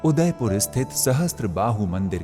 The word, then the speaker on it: सहस्त्रबाहु: लोगों के सही उच्चारण नहीं कर पाने की वजह से सहस्त्रबाहु मंदिर सासबहु मंदिर के नाम से प्रसिद्ध हो गया।